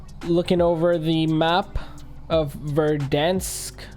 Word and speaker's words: Verdansk: over the map of verdansk dense is how you say it anyways uh clearly you